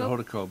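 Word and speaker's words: Hoda Kotb: You don't have enough vowels in her name. I pronounce it Hodakob, and Hodakob? So does she.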